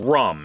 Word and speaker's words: Rhum: It's called Rum. It's spelled with an H, by the way, RHUM.